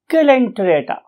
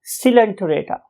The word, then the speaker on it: Coelenterata: Few people से इट एज सिलेंटरेटा, सिलेंटिराटा or tirata, and others may utter it as calenterata. However, most of the scientists or teachers love to say it as silenterata, right?